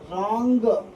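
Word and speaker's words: wrong: अब देखिए डब्लू के बाद अगर तुरंत बाद आर आता है तो वहाँ पर डब्लू क्या होता है, साइलेंट हो जाता है, मौन हो जाता है।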